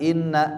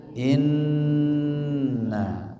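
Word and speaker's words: إنّ: Inna, maka bacanya jangan inna tapi inna ya, seperti ini namanya gunnah.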